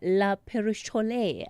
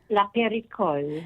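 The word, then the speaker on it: La Périchole: operate uh operator uh la perole. I hope I'm pronouncing that correctly, but something says I'm not. Aviva, how do we say it? La perico. La perico. There we go.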